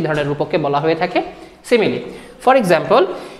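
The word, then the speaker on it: simile: তারপরের যে এক্সাম্পলটা সিমিলি, এর উচ্চারণ হচ্ছে সিমিলি।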